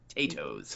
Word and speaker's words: Tato: It is just like they pronounced it. T A T O. Tattoos.